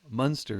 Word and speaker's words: Munster: Or sorry, that's the German pronunciation. Munster is the Irish one. Münster is the place in Germany.